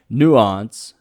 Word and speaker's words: Nuance: uh yeah I think the pronunciation is Nuance as in you know you know the word nuance yeah and uh you